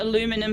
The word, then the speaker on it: aluminum: flavor uh no because the spelling actually changes the pronunciation with aluminum versus aluminium whereas taking the U